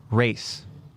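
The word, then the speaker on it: Reiss: the last name and it's not rhys or rice it's actually like race oh race yeah like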